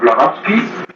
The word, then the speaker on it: Blavatsky: To the Theosophical movement and New Age movement, and then Madame Blavatsky was the mother of the Theosophical movement, as I pronounced that right?